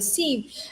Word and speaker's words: SIEM: But just for everyone else that may not know, the SIM is spelled SIEM, and it's actually an acronym that means Security Information and Event Management.